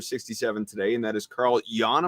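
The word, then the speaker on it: Carl Yuan: today, and that is Carl Jan. Am I saying that correctly? It's Carl Ewan, I think, but it matters to him. I'd like to say it right.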